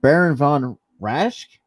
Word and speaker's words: Baron von Raschke: But yeah, but then again, in that match, we had the a wrestling legend Baron von Raschke.